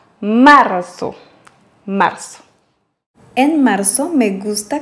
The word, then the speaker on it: marzo: Quant au Z en espagnol, en Amérique latine, on le prononce comme s'il y avait deux S. Marzo. Marzo. Alors qu'en Espagne, on place la langue derrière les dents au haut en laissant passer l'air tout doucement.